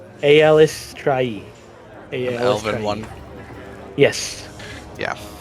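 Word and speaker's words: Eilistraee: had any symbols of Elistray? Just double check. Elistray? Is that what you said? Mm-hmm. Never heard of that one. Eliestre? Mhm. Eliestre? It says pronounce. Aelistrai. Aelistrai.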